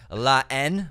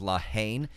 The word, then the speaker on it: La Haine: Which is La Haine, another French film, commonly mispronounced as La Haine.